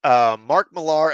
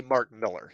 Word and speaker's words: Mark Millar: Okay, Mark Millar announces first ever, or I should say Mark Miller. He pronounces his name there. I called him Mark Millar for so long that I tend to even do that, even though I know it's Miller now.